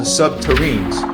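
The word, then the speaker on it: subterrene: SSP proponents claim that construction involved nuclear-powered tunneling machines called subterranes, rhymes with submarine, capable of melting through rock and soil, creating smooth, glass-like tunnels.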